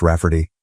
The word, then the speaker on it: Rafferty: She told my mom that spelling it Ray Farty will be obvious that it's pronounced Rafferty, but it makes it look more girly.